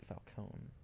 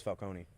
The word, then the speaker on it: Falcone: Falcone. I thought it was Falcone. That it is in The Dark Knight. In this, it's Falcone. I've heard it pronounced as Falcone and other things.